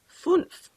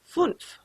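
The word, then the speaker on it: fünf: top of it and that is called an umlaut and it basically just changes the sound of the you so this is pronounced funf try to say that funf all right let's count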